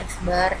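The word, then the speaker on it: x̄: eksbar tuh enggak resisten dengan eksbar ini bacanya eksbar diarex ada garis di atasnya Hai terus nada teh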